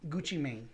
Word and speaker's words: Gucci Mane: label do you mean gucci mane man yeah it's gucci mane which means i mean yeah like maine just like man but like man you